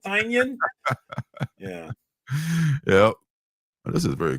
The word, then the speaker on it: Tynion: People say his last name all kind. I say Tynan. I'm pretty sure Tynan's the right way, but people say it all kinds of different ways. He has his website, Tiny Onion, so that kind of gives you so it's like throws you off, right? Like, is it Tynion?